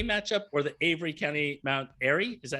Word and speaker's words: Mount Airy: robinsville swing county matchup or the avery county mount airy is that how you say it i'm sorry